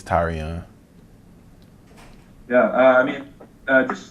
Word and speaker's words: Tyrion: to be called tyrion um it's actually tyrion that's how you pronounce it that's how you it's how you pronounce it tyrion like tyrion you know i mean it doesn't